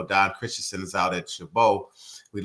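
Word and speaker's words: Chabot: decided to go to uh what was it shabo college is that how you pronounced it yeah I first I went to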